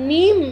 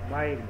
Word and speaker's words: mime: স্যার মিম উচ্চারণটা নাকি মাইম? মাইম এম আই এম ই মাইম মাইম by taking it টু অ্যান you unimaginable